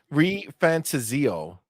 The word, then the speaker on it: ReFantazio: back to this fantasio re re fantasio is how you actually pronounce it um it has sold